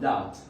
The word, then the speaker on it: doubt: What's the silent letter of doubt? P. P. Good job. The silent letter is B.